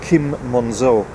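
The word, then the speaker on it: Quim Monzó: deal from is called Kim Manzo in English there's a problem with Kim because it's spelt qu I M but it's Mons o mo n zero and he normally writes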